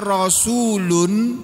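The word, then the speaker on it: رسول: Almursalin para rasul maksudnya rasul tulisannya rasulun. Membacanya rasul itu artinya utusan.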